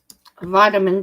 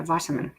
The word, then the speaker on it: vitamin: like they found that so vitamin just the way it's spelt and like you say yeah vitamin so kev says big